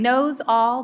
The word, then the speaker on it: Nosal: Knows all, but quickly. Nosal.